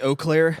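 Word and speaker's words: Eau Claire: to the Oakland clear how do you pronounce that II au all Claire Police Department say oh Claire oh Claire police department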